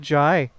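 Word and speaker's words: Jae: By the way, Dust, fun fact, we've been saying Jay's name wrong this whole time. What? Yeah, apparently it's pronounced Jai.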